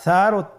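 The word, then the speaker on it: ث: সা হরফটির মাখরাজ হলো উচ্চারণের স্থান জিহ্বার আগা সামনের উপরের 2 দাঁতের আগার সঙ্গে লাগিয়ে উচ্চারিত হয়।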